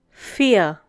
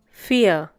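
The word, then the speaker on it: vier: The next one is fear. Once again, fear. The pronunciation is similar to the English word fear.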